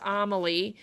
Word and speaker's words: Amelie: the name of the pattern is amelie is that's how we're saying it right it's amelie so of course we